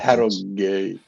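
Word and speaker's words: Harrogate: So yeah though Harogate they've got they you pronounce the H in Harriate don't you? That's a good Harate.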